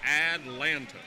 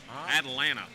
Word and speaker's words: Atlanta: The trick with a southern accent is you don't pronounce T's. That big town south of us that has 3 T's in it, they're all silenced. Atlanta. Atlanta.